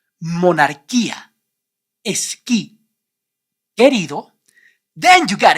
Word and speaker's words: monarquía: You don't pronounce the vowel U in all these words because the vowel U is after the consonants G, Q, and before the vowels E, I.